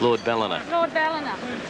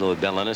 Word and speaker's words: Lord Ballina: ballinger yeah well uh having an argument over there about how they pronounce the horse's name while they're trying to fix the plate well i was there tommy smith told me it's lord ballina so uh they're putting